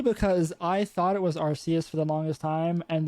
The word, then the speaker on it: Arceus: Apparently, It was originally Arceus, and then they realized that arse is how they say ass in England, and they're like, we have to change this.